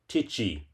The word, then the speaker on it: tai chi: Spell it, it's pronounced Tichi with a long I.